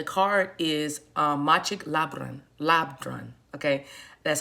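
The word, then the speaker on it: Labdrön: email and the card is uh machik labrand labrun okay that's how you say her name i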